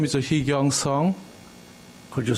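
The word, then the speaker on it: Heekyung Sung: sworn an oath yeah my name is a heong song could you spell it for us h e e k y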